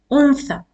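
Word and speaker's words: أنثى: as shortened alif because it has only one count to pronounce. Like the long vowel you pronounce as kitab, you have a long pronunciation. but here this letter has only one count. You will not prolong your sound like in untha. It is just untha.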